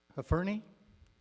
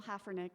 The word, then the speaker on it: Haffernick: Next on the list, and I'm really going to botch this one, Hafferny. Was that correct? It's Haffernick, and you're not the first to mispronounce it, but thank you for your valiant try.